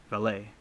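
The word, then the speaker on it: Vallée: and Alan Hank and Jacquees Valley valet that's how you say it proponents of the interdimensional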